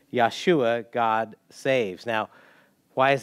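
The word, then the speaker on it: ישוע: and the english but if we were pronouncing it in in hebrew it would be yeshua god saves now why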